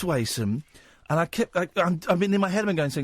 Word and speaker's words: Wason: Lee Catherine Bole Wendy now it's Wason thank you so much for pronouncing it right somebody called me Wendy